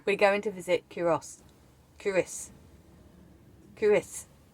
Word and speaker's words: Culross: I'll put a caption up because it's if you want to say it logically, it's Col Ross, but it's not. It's Curis apparently.